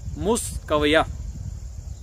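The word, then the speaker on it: Miskawayh: तो इनके ये जो नाम है तो इसका तलफ़ुज़ मुख्तलिफ अंदाज में किया गया है। तो हम यहाँ पे इनका नाम जो गूगल में दिया गया है इनकी जो प्रोनाउंसिएशन नाम की वो है मुस्कविया।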